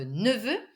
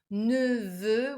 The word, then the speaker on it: neveu: In that case, votre neveu. And if it's a girl, c'est votre nièce. Votre nièce. It's not easy to pronounce. Neveu with the neutral E sound in French.